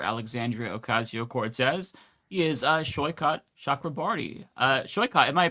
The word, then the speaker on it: Saikat Chakrabarti: He is uh Shyot Shakraarti. Uh Sho, am I pronouncing your name correctly?